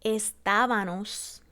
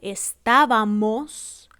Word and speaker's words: estábamos: O cuando cambiamos la M por la N para lograr el plural en los verbos como estábanos, íbanos, andábanos. En vez de decir la correcta que sería estábamos, íbamos, andábamos.